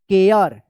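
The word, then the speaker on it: care: केयर। इसको शेयर मत पढ़िएगा। केयर सी ए आर ई केयर। डी ए आर ई डेयर।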